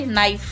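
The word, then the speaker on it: knife: कैसे नाइफ यहां के साइलेंट रहता है।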